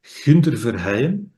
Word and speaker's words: Gunther Verheyen: So, my name is Gunther Verheyen. That's how we would pronounce it where I live.